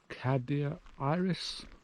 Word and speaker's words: Cadair Idris: so we're traversing this this Mountain Group the Cadia Iris I pronounce that right correct some of the most